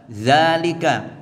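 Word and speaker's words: ذلك: pun tetap dibaca panjang demikian juga dalalika dalika biasanya tulisannya Danya pendek tetap harus dibaca panjang untuk itu ya untuk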